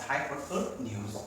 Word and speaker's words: hypotenuse: 이 T가 약간 묻어있어. hypotenuse. T 발음 거의 안 해요.